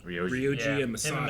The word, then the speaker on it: Ryoji: Ryoji? Ryoji.